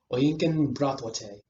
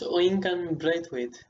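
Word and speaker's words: Oyinkan Braithwaite: We have a very special guest today, and her name is Oyinkan Bratwate. It's actually pronounced Oinkan Braithwaite.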